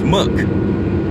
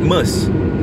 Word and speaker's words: Merc: The short form for a Mercedes-Benz is Merc, not Merce.